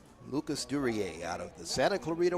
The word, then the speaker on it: Duryea: Lucas Duria, or Durier, pronounced like the actor Dan Duryea, who played in movies many, many years ago. Lucas Duryea out of the Santa Clarita Warrior team made the play.